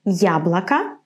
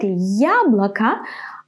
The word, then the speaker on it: яблоко: So in the word яблоко, I pronounce it strong. Ya. To pronounce it like this, you have to say first the sound y, and then ya, ya. It's like the beginning of the English word yummy, ya.